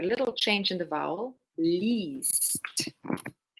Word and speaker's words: liest: If you hear that I'm pronouncing it really long, liest. Er, sie, liest. Und sie lesen. The tricky part here is the IE für du und für er und sie.